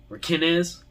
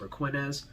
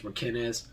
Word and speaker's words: Raquinez: Raquinez, apparently is how you say it. He's always said it like that. I've always pronounced it Raquinez, but I guess it's Raquinez.